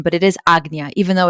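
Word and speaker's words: Ajna: But it is agna. Even though it's spelled sometimes it's age, it's spelled aj na. It's pronounced agnya.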